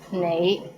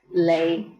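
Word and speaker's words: 你: is the word you the right way to pronounce it is nay but in Hong Kong many people pronounce it as lay how was it pretty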